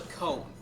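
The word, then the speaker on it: koan: See, the idea of asking the question, it's something called a cone. It's spelled K-O-A-N, maybe with an E? Probably not with an E. No E.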